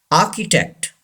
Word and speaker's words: architect: strong anchor number seven architect say this word architect yes you know our is not pronounced our is silent in this world and see it gives the sound of Kate architect say this word architect number